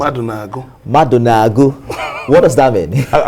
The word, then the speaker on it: Madunagu: Is that how to pronounce it? Madunagu.